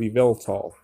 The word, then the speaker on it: Yveltal: We have a revamping of Yveltal. That's how you pronounce it.